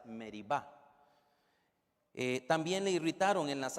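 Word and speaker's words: Meriba: las aguas de meriva probablemente la pronunciación adecuada es meriva también le irritaron en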